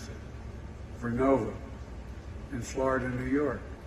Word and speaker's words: Vernova: Arcosa makes wind towers that's going to go into turbines made by GE Verona. Excuse me, I mispronounced it. Vernova in Florida and New York.